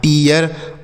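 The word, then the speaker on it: tear: उसके बाद टी से हो गया ट इ ए का उच्चारण इ तो ये हो गया टी आर से र लिखा है टियर उसके बाद एन से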